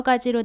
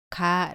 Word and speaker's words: ㄱ: 오른쪽으로 쓰다가 아래로 내렸습니다 기억은 터에 뒷부분을 입천장 뒤쪽에 붙였다가 떼면서 발음합니다 몸 알을 붙여서 가 라고 발음합니다 따라해보세요 가 다음은 니은